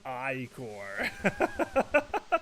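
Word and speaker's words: ichor: I can fill it with magical eye core that's pronounced I core.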